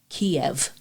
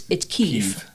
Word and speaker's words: Kyiv: And the same thing is, I bet you grew up learning Kiev in Ukraine. Yeah. It's Kyiv. Yeah.